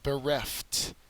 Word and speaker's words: bereft: Next word is bereft. Bereft. The second syllable has the accented mark.